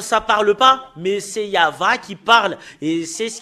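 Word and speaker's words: יהוה: ça qu'on le prononce on doit le prononcer comme cela I a h en fait c'est pas faussé jusque-l mais depuis là ça commence en en V euh ou VH ou va yava rien d'autre que ça Yav ça parle pas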